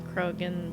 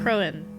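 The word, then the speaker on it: Croaghaun: Soon I'll be well enough to climb Krogan with them again. Crowan. It was Crowan? The G is silent.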